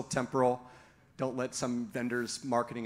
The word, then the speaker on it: Temporal: The correct English pronunciation is temporal, and I fought it for the first 6 months I was at the company, and then they shamed me into now consistently mispronouncing it as temporal. So take that for what you will. If you value the Queen's English, then it's still temporal.